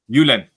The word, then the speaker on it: Julen: It's, for those that study Spanish, you may be surprised because it's a J. A J is Julen.